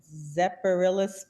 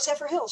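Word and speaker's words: Zephyrhills: She says, I don't know how to pronounce it, Zephyrillis, Florida, a good area to invest? Oh, Zephyr Hills, sure.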